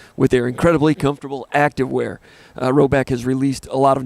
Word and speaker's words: Rhoback: Roback has released a lot of new items within their new licensed game day collection.